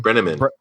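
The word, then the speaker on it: Brenneman: Brenamman.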